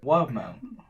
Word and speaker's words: Wildemount: Wildemount.